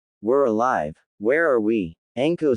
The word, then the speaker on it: Anko: It's okay, Neko and Anho. Says Naruto. It's Anko, brat. Anko. Corrected Anko, glaring at Naruto for getting her name wrong.